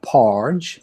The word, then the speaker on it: Parge: name is power good pronounced in the german way or porch like large but its value with